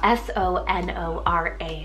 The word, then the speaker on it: Sonora: was sent in is the name Sonora spell s-o-n-o-r-a Sonora this is a wonderful name if you